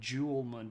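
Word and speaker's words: 즐문: and I should note the J in Korean is not pronounced like a sort of a soft J like we have, like jam or June. It's more of a kind of like a TCH sound, which gets you there eventually. And if you said Julmun period, people would know what you're talking about.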